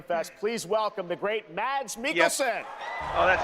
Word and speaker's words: Mads Mikkelsen: Everyone at Summer Game Fest, please welcome the great Mads Mikkelsen. Yep. Oh, that's how you pronounce his name.